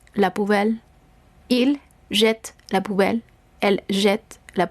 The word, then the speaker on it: jette: Entonces, esta sonará fuerte, la T, je jette, ¿ok? No estoy pronunciando la E del final, sino el sonido per se de la T. En la persona tu será lo mismo. Tu jettes la poubelle. Il jette la poubelle.